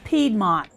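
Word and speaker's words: Piedmont: the the Pont region the pedmont I'll accept that pedmont is the correct pronunciation but I knew what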